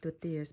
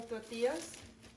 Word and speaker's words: tortillas: น้ำมันเจียวที่แม่บ้านเฮ็ดไว้เด้อพี่น้อง And then now we're gonna grill some tortillas. I have some corn and some flour tortilla. อันนี้ tortilla ข้าวโพดสาลีเด้อพี่น้อง ภาษาอังกฤษคนอเมริกาเขารู้จักว่าเขาสิว่า tortillas แต่ว่าวิธีออกเสียงแท้ๆค่ะแม่น tortillas เด้อพี่น้อง like that.